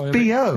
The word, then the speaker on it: B.O.: That's It's pronounced B.O. B.O. Well, yeah, but you've got to play... It's not pronounced bow, and it's not spout bow. Who calls it bow? Everyone knows it's B.O.